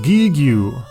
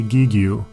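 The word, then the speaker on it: Giegue: Oh, Gigue! This word is spelled G-I-E-G-U-E, which could be pronounced a variety of ways, but I'll just say Gigue.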